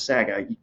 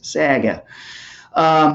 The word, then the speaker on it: saga: the whole Star Wars saga because Sega just in Sag because that's how George Lucas pronounces it saga I think is the correct pronunciation but George Lucas always says Saget so yeah I'm gonna